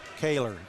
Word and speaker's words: Kaylor: what is it caller Kaylor Kaylor just like Taylor Taylor that's the way